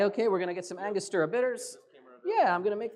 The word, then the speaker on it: Angostura: bit of bitters am i wrong that is angostura which angus as i pronounce it incorrectly that's all right that's all